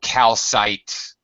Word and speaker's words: calcite: In nouns like this, it's ite, so calcite, all right, Calcite, graphite, fluorite.